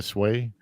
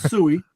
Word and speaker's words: Sui: The Sui, or how do you say that? The Sway? No, it's suey. You said it correctly. All right. It's how you call a pig.